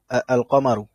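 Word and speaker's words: القمر: তো কমারিয়ার ক্ষেত্রে যদি বলি, দেখেন কমারিয়ার ক্ষেত্রে আমরা কি পড়ি? আল কমারু, তাই না? সরি, কফ মিম র, আল কমারু, তাই না? আল কমারু আশ-শামসু। এখানে লামটা আমরা পড়তেছি, বাট এখানে পড়তেছি না, তাই না?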